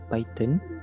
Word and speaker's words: Python: this video, I use Python Or our people pronounce it as "Paiten" I wrote this code